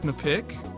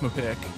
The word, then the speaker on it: MPIQ: I believe it's pronounced Mapik. Is this a tomato or tomato kind of situation? No, it's definitely just pronounced Mapik.